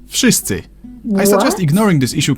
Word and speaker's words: Wszyscy: V in Wszyscy should sound like V in Wódka, but it seems to soften up to an F. Wszyscy.